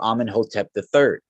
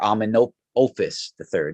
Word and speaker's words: Amenhotep: So when we come to the Amarna letters, there's an interesting letter that's written from a Mittani king to Amenhotep III, or Amenopus III.